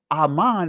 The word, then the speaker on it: amen: notice where it says amen in the Greek. Amen in the Greek. So Aman is actually the proper pronunciation of the word amen. Amen is the Greek pronunciation, but Aman.